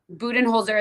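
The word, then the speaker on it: Budenholzer: if I'm going to say this name last name wrong it's Mike buen holer right right correct buen holer is hired as the son's new coach um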